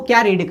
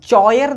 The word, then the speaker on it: choir: तो यहाँ पे ये जो CH है, ठीक है, तो इसको हम चेयर नहीं कॉयर रीड करेंगे।